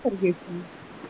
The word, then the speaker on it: vergessen: हाँ forget the, वी का हम लोग प्रोनाउंसिएशन फाउ ऐसा अल्फाबेट है ना हमारा जर्मन के हिसाब से।